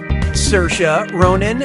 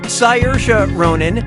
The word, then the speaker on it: Saoirse Ronan: How do you pronounce, her name? Saoirse Ronan, Saoirse Ronan, Saors Ronan, or Seorais Ronan?